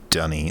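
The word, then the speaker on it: D'ni: duckney it's definitely not duckney dunny is the official pronunciation but i would accept denis as well uh denise is what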